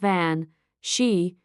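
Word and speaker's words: bean sí: The word benshi comes from the Irish language where it's pronounced van she meaning women of the fairy mound or fairy women.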